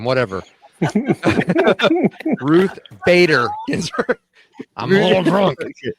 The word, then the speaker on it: Bader: And for that whole side of the aisle who idolizes Ruth Gator Ginsburg, we all know who that is, right? I mispronounced her last name. Whatever. Ruth Bader Ginsburg.